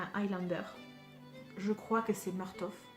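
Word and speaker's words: Murtagh: je crois que c'est martov donc je le prononce marteau fait parce que c'est ça finit par g h à la fin et en gros il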